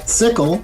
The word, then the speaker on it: Xickle: it's spelled x-i-c-k-l-e but we pronounce the x like an s so it's sickle like in sickle cell